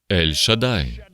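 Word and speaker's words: Ель-Шадай: Ось що він сказав я ельшадай і зрозуміти це це правильна вимова не шадай і не шадія А ельшадай скажіть це ельшадай короневе слово єврейського слова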